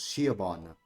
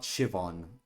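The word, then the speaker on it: Siobhan: oh really I thought I thought shon's pronunciation was shabon not shivon I did not realize it I've been saying her name wrong your IRL can be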